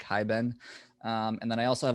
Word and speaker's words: Hiben: which is just hibben or it's spelt like hi ben and then i also